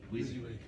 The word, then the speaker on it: WYSIWYG: is abbreviated, and I don't know how you pronounce it, but when you see what you see is what you get. WYSIWYG. WYSIWYG, okay.